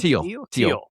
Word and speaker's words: Thiel: So Theo used to Theo, is that right? Theo. Yeah. The H is silent.